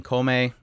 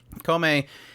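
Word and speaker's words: Kōmei: warring era uh following comey from this point on i'm going to be calling him comey because that's how they pronounce it in the anime kome and he is at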